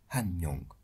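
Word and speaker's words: 한 명: Une personne se dira han Mong. Ici, Hana est devenu Han pour faciliter la prononciation.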